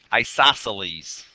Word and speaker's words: isosceles: The next one, isosceles. Isosceles is how that's pronounced.